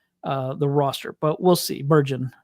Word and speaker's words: Bergen: But that was kind of my takeaway, is that Junior Bergman is not going to make the roster, but we'll see. Bergen, I said it wrong.